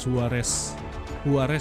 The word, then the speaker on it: Juarez: Ini nama gamenya Call of Juarez ya. Kalau di bahasa Latin J itu dibacanya H kalau nggak salah.